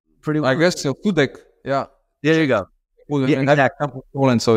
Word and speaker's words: Sudek: and please help me with the pronunciation ysf sudak y sudak yeah uhhuh am I saying it pretty pretty well I guess so sudek yeah there you go so is just over